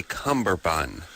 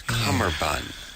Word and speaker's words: cummerbund: they'll be yeah yeah you would say cumberbund but it's it's cummerbund go check out what